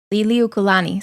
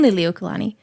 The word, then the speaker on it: Liliuokalani: that's a doozy right there uh Lily okani Lili okolani sorry Lilia Kalani Queen liliuokalani um she was uh Queen when the monarchy